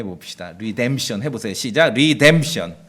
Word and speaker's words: redemption: 구속했을 때 명상으로 리뎀션이에요 제 설교를 들으니까 한번 발음해 봅시다 리뎀션 해보세요 시작 리뎀션 그 다음에 명사형은 구속인데 명사는 이제 제가 구속